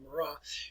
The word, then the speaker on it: Marat: And that's the way you want to pronounce his name, The Death of Marat. And for Jean-Paul Marat, he was a well-educated individual.